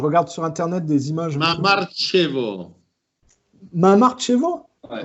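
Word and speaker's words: Mamarchevo: Mamartchevo. Mamartchevo? Ouais. Mamartchevo. Comme ça se prononce.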